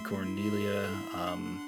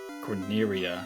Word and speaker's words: Corneria: I did run back to Cornelia, is that even the name of this place? Corneria.